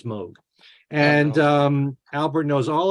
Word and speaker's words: Moog: of the Moog and that is how you pronounce it not Moog it's Moog and um Albert knows all about it and